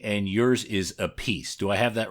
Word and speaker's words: Appice: Apey and yours is a piece. Do I have that right? Okay, good. And I'm going to assume that Aie is the correct uh pronunciation because you are the elder. My father said apey but when you know